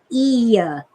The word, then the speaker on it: eye: Even in the time of William Blake, our word eye, E-Y-E, like your eyes, was Iya, and the plural was Ian with an N on the end.